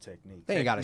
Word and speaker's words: Techniq: __ ] with this c-h-n-i-q it's pronounced technique they ain't got to